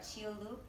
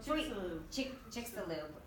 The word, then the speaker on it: Chicxulub: Does anyone know Chiolu? I'm sorry. Among the Mayan ruins, and set even Chicxulub.